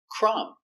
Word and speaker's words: crumb: Example, crumb. The B is silent. You have MB at the end.